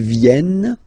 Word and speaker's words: viennent: Ils viennent, elles viennent. Ils viennent, elles viennent. Alright? E-N-T, you don't pronounce them.